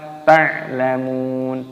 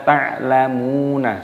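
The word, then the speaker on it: تعلمون: Saufa, saufa, wawu sukun dibaca saufa ta'lamun, ta'lamun. Ainnya sukun dibaca mati. Mimnya dibaca panjang, ada wawu sukunnya. Nunnya di sini dimatikan, mat adid disukun. Jangan dibaca ta'lamuna, salah.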